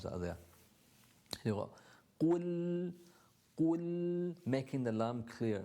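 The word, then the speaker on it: قل: So you're already here, qul, and that's your starting point. Starting point is here, and you need to pronounce the dhamma and the qaf at the same time.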